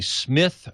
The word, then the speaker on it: Smyth: but it's still pronounced Smith.